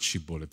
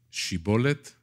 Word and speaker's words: shibboleth: so bible scholars say it's not shibboleth in c bullet it's she bullet and the bullet the